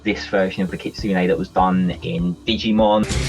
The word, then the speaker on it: kitsune: I'm pronouncing this right the kitsune you turn a key - yeah kitsune I always say Cassini my Japanese is self-taught